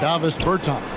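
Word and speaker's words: Dāvis Bertāns: Oh, well now, at this point in my life, it's Davis Bertans. Is that how you say his name? Yeah. Davis Bertans.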